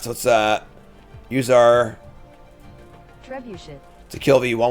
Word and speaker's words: trebuchet: whatever all right so let's uh use our trebuchet to kill but you want one and then